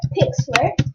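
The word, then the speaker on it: Pixlr: Then go to go to Pixler and then go down. Go down. Go down. So it will open you to this page. It's spelled P I X LR Pixler.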